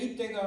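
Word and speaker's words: 잇대: 카메라 앵글이 이제 이방인 이때 얘기합니다. 이때가 누구냐? 이때 right now 이게 아니고 그냥 이름이 이때예요. 발음을 잘 들으세요.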